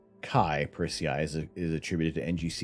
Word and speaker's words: chi: chai x is uh chi pronounced like archive kai kachai is t